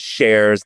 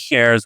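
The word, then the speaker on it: Schares: My last name is Shares. Take away the C.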